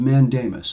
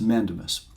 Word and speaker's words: mandamus: Supreme Court May issue a writ of mandamus sometimes pronounced mandemus a writ of mandamus